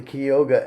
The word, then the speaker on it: Cayuga: Sometimes you hear them say Key as in Key West, and sometimes you hear them say K as in Bay, rhymes with Bay.